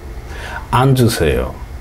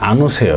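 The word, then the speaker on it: 앉으세요: দুইটারই হবে ইলগো বুসেয় আঞ্জুসেয় এই যে আনুসেয় না আনুসেয় এখনও আমার যেই ভাইয়েরা শেখায় তারাই আমার ভুল ধরে যে আনুসেয় শেখায় তারা আসলে এটা আঞ্জুসেয় হবে কারণ পাশে যদি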